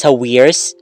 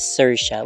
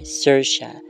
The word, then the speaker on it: Saoirse: But yeah, I at first I was pronouncing it as Sawirs. Okay. Because I really didn't know how to pronounce it, and then as it turns out it's supposed to be pronounced as Saoirse, which is even better. It's almost like Sasha, which I also like that name, but better, Saoirse.